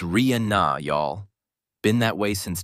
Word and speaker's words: Rihanna: She captioned it, "It's Ria Na, y'all.